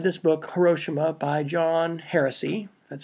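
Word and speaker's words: Hersey: was had read this book hiroshima by john heresy that's how you say his name and she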